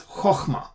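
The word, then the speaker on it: חכמה: But in any case, if this is a closed syllable and it's an unaccented syllable, meaning the accent is not there, the accent is on the other syllable in the open syllable. Okay, so we pronounce it as chokhmah.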